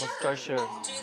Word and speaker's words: Worcestershire: It's actually not that hard. You just have to completely ignore the spelling. The first syllable is W. W. W. W. The second syllable is stir, like stir the pot. Worcester. Worcester. Worcester. The last syllable is sure, like Worcestershire. Worcestershire.